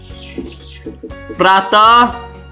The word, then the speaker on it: प्रातः: इन शब्दों के अंत में विसर्ग लगा है, विसर्ग का उच्चारण ह के समान होता है।